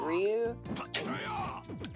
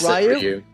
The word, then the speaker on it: Ryu: to be Ryu and he pronounces it Ryu so is it Ryu as opposed to Ru yeah I always said